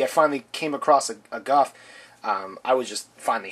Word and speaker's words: Gouf: going to be reviewing the Guff or goof or gof however you want to pronounce it I pronounce it Guff from the mobile suit